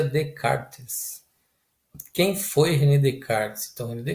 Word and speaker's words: Descartes: chegar o rené descartes se inscreve nesse cartas mas se pronuncia de karts quem foi redecar estamos